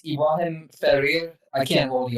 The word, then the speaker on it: Ibrahim Ferrer: It's Ibrahim Ferrer.